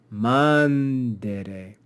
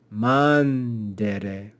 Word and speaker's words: mandere: But here, where the penult is short, we say mandere, mandere. We accent the antepenult, or the first syllable.